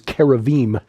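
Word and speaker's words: כרובים: And our Jewish friends tell us the actual correct pronunciation is keraveim.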